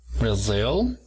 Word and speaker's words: Brazil: Levantamos un poco en la segunda sílaba, Brazil, y tenemos la nacionalidad Brazilian. Luego tenemos a Canadá.